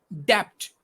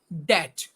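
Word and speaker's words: debt: to suggest you another what is d e b t we pronounce this depth but sorry to say it's that so to write five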